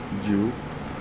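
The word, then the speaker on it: jiǔ: back to this so nine is said as jew so it is the second tone mark up and down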